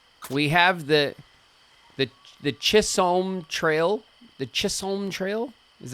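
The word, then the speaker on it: Chisholm: I'm I I don't I wouldn't pronounce it like that. I would call it kissum. The kissum trail. I would imagine that that would be the right way, but but you know, what do I know?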